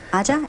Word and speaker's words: Aja: Aja, am I saying it right? No, that's correct.